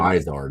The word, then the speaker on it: Vizard: Vizard is the correct pronunciation of it. It's David Vizard's infamous 128 cam spec formula.